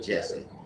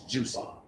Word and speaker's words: Jussie: His name is not Jesse. His name is Jussie.